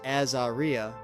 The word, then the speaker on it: Azaria: Her name Azeria, pronounced Azaria, came from Hebrew and meant blessed of God.